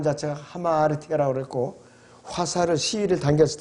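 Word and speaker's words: ἁμαρτία: 헬라어의 원래 의미는 발음 자체가 하마르티아라고 그랬고 화살을 시위를 당겼을 때 관역에서 빗나가 버리는 거예요.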